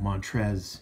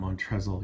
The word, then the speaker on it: Montrezl: the comments and uh oh montrezl not mont wrestle you know i know